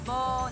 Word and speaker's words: บอใบไม้: れますなので 1 文字で発音するとボーなんですけどもその発音を